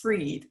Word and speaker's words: Fried: And I already have a title, Spell Fried, Pronounced Freed.